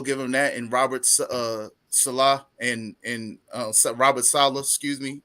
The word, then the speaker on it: Saleh: I know I keep can't getting pronounce his last Salah. It's Salah, Robert Salah.